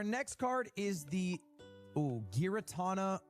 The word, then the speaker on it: Giratina: So, our next card is the Ooh, Giratina V Star. of Five feels like an ad for Ludwig. pronounce it Giratina.